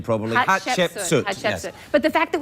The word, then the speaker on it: Hatshepsut: Pronounce her name properly. Hatshepsut.